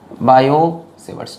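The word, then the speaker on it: Biot–Savart: बायो-सेवर्ट्स, T capital में लिखा है क्योंकि टी साइलेंट है इसीलिए ऐसी, ठीक है।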